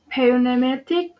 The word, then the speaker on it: pneumatic: Uh, P is also silent in Pn at the beginning of a word. For the example, pneumatic, pneumonia.